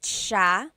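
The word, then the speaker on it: siya: the SI i y it's a sha sound sha and then another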